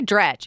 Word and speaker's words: Dratch: I say Dretch. Is it Dratch? I've heard her pronounce it Dretch and- Drash.